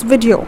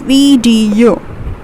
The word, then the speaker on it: video: are saying it as video it's not video it's video it's vdo we are putting our stress on the second syllable that is vdu okay the third one